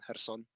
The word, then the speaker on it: Kherson: It's, for example, for cities like Kharkiv and Kherson, they are spelled with KH, but they are pronounced H.